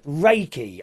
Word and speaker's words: Reiki: Uh, hello to Ted who tells us that Reichy is pronounced Reiki.